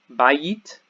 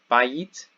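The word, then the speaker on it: בית: Bayit, bayit is house or temple, and the accent is here. Bayit, bayit on the first syllable.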